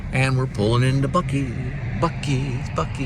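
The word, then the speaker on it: Buc-ee's: we're pulling into bucky bucky's bucky i like the way it's spelled b u c ee apostrophe s buckies here's a sneak peek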